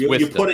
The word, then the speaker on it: Worcester: I mispronounced Worcester. My one vowel. So there you go. It's Worcester. You put an R in there.